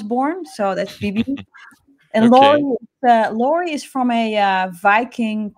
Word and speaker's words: Lauri: says my name wrong they all say lauren right it's uh laurie or yes sorry and uh